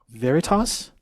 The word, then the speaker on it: Veritas: Hey, listen, thanks for sharing all your music with us this evening in that new EP, Veritas?